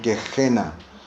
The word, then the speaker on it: Gehenna: La palabra infierno en este verso proviene de una palabra griega que se pronuncia como Gehenna.